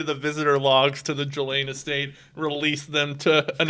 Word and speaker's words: Ghislaine: Ghislaine is how you pronounce it.